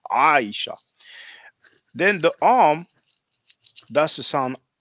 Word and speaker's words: Aisha: the Arabic for example in English we say Aisha but the Arabic speakers will pronounce it Aisha is the sound that's like from the throat is difficult for English and French speakers Aisha then the arm does